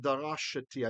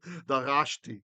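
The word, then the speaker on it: דָּרַשְׁתִּי: I said darashati. I made it a vocal schwa because I was looking at that as a meteg, in which case this would like have space like it's beginning a syllable. It's not. It's a siluk. It's just the accent.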